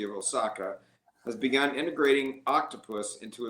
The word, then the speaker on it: OQTOPUS: Previously, universities and companies had to develop extensive custom software to enable cloud-based quantum computing with Octopus. And again, that's spelled OQ T O P U S if you're going to look it up.